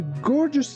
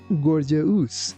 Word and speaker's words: gorgeous: The girl picked out a gorgeous dress to wear to the dance. Be careful with the dictation of this word not to pronounce it like gorgeous. It's gorgeous.